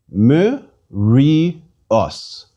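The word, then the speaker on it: μυρίος: accent please repeat us each consonant is pronounced with the vowel that follows it as a separate syllable let's read it again me re us this word means see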